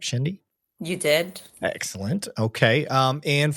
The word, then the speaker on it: Shendy: Well, did I pronounce that correct, Shendy?